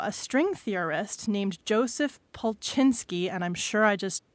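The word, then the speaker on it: Polchinski: Okay, so a little over a year ago, a string theorist named Joseph Pulchinsky, and I'm sure I just completely mispronounced that name.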